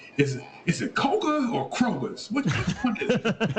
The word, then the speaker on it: Koger: No, actually, it's Koger. You actually said it wrong.